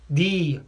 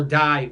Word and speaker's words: Dy: see ha reverse rolando d or die we went by die it's pronounced d he's Filipino he's supposedly